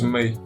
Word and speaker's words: Mai: as mai of boruno i don't know if it's my or may or i think it's me it's me right mate okay i'm sorry